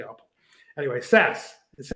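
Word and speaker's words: Szasz: like I should say SAS I always slip to say SAS he says it's pronounced like Saskatchewan okay so for anybody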